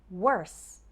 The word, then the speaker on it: worse: in the worst way what about the pronunciation of worse and worst well worse ends with a sound worse and worst ends with a sound worst however when speaking fast it's common for that final T sound to disappear so sometimes